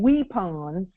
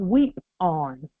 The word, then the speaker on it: weapon: Guns and weapons, because that's what they call it really. That's really what that word, if you pronounce that word right, it's not pronounced weapon, it's pronounced weep-on.